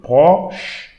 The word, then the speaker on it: proche: So again, CH, we should pronounce English SH. So sh. You don't read the E here. So proche, proche, proche.